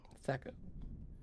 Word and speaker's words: Thaco: Here's Taco. the spell that the witch must have cast on Ellen. The incantation is Kala Ingma Thaco. Thaco. Not taco.